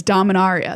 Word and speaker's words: Dominaria: about this last episode how do you say DOM and Aria oh that's right it is DOM and Aria the very fanciest way it is correct I supposed to like Dom an area yeah that sounds like